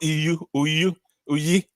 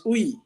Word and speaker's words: Uyi: It's not Uyi. It's what? Say that again. How do you say your name? It's Uyi. Uyi, okay. That's a Benin name.